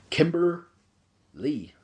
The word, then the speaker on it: Kimber Lee: show uh today and that's going to be Kimber Lee yes that's the way that it's pronounced because of the way that Allison Kay